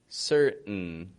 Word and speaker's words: certain: In all those words, they're all 2-syllable words. The first syllable is strong in them. The vowel's pronounced fully. Whereas in the second syllable, it's just kind of an n sound. And the T, which you would think T's like it's a consonant and it's supposed to be pronounced, again, fully, we don't pronounce it.